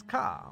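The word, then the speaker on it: カ: first one this is ka or ka it's a consonant followed by a vowel and makes up a single syllable you pronounce this as ca like in the word card indeed or car or cockatiel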